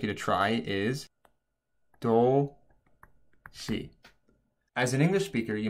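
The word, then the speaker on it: 도시: However, whenever the S letter in Korean is followed by the I letter in Korean, the S letter actually makes a sh sound. So this word would actually say do-si.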